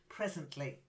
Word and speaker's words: presently: ran remember and then presently again the stress there the pronunciation was fine but the stress was a little off presently presently perfect then striking to strike